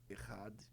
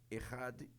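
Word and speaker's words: אחד: hebraico, pode ser errad ou yid. Se escreve echade, o nosso ch. Uhum. Só que ch em hebraico é som de dois rs. Uhum. Então, errade ou a palavra único,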